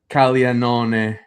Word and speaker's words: Caglianone: Jack Caglione, or if we want to say it the proper Italian way, Jack Caglianone. Thank you. All WBC, they were saying it wrong.